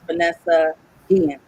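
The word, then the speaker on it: Vanessa Guillén: It's the correct pronunciation is Vanessa Guillen.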